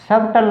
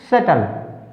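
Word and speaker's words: subtle: सबल, सबटल नहीं बोलना है इसको, क्या बोलेंगे हम इसको, सटल, या क्योंकि यहाँ पर बी क्या है, साइलेंट है, सटल।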